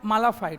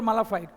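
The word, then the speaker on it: mala fide: ठीक है, इसके बाद और भी बहुत सारी चीज़ें हैं, जैसे हम लोग बोलते हैं बोनाफाइड मालाफाइड, that is नॉट बोनाफाइड और मालाफाइड, बोनाफाइडी मालाफाइडी।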